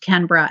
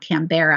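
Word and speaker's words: Canberra: school which is where I learned that it's pronounced canra and not canbera I made a fool of myself and and got some corrective feedback from the individuals at the session because I said canara and they all kind of like laughed at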